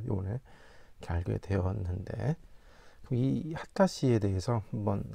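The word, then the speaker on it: 秦: 본전에 보시고 있는 분이이 진씨이 하다 씨라고 하네요.이 진씨임을 알 수가 있습니다. 이제이 진씨 우리나라에는 진씨이죠.네 네. 하다시라고 발음을 합니다.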